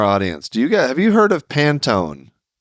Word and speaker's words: Pantone: A single pant. Pant one. So Pantone. That makes more sense.